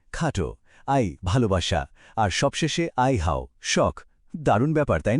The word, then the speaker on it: 爱好: এই পুরো শব্দটির উচ্চারণ হল আই হাও। আরেকবার বলি, আই হাও।